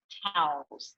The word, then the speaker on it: tau: If we were to do an autopsy, you see these tangles, these twisted little fibers with these proteins called taus. So TAU, it rhymes with wow, that build up inside the cell.